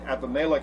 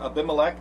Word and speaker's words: Abimelech: The story that we're going to have today, the beginning, the Abimelech story, or Abimelech, depending on how you want to pronounce it, I will switch back and forth between the two depending on my mood.